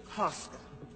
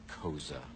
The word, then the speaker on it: Koza: You must be Mr. Koska. It's pronounced Koza. Why don't we start with you?